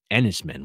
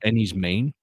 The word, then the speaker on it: Enys Men: I was like what Enis men what is that so I did a little bit of research apparently men is actually pronounced like Maine yeah like so any's Maine yeah and I guess